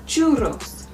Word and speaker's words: churros: At times in Spanish there will be two R's in a word and then you want to have a longer rolling. So if you roll your R too long, you're going to be saying it incorrectly. Buenos tardes. It's a one R, so it's a short roll. For a longer roll, churros. Churros, you would say in